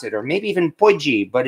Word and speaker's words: potjie: a uh south african poikie which i know that's how they pronounce it or maybe even budgie but it is not pronounced pudgy even though that's what it looks like and it looks like